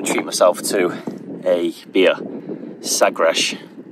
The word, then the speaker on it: Sagres: Sagresh, it's pronounced, I'm pretty sure.